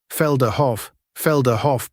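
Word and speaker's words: Felderhof: high, expected equals Kahlimahan Tahan, Kal Iman Tan, Felder Hoff person, risk equals normal, Dutch origin, TTS may clip final syllable, Freeport Mi'kmaq Ran, company, risk equals normal,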